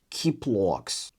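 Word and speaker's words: ķiploks: My Latvian friend told me that it's pronounced kind of like the q in cute. So, maybe it's k k kiploks kievses kieda I would say C tier.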